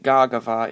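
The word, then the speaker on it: Gardevoir: the list is gagar now I know I pronounced that really really terribly in one of my other videos but that's just because I watched an anime episode in which they pronounced it similar so I got a bit confused there but anyway garava is the pr is the correct pronunciation I'm pretty sure so anyway garava is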